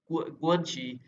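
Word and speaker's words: 关系: आपने ये आगे है गुआनशी ये जू जे नहीं पढ़ना जी भी नहीं पढ़ना ठीक है जी को ये बोलते हैं ग गा से प्रोनाउंसिएट करते हैं गुअन और एक्स को पढ़ते हैं शी ठीक है मई गुआनशी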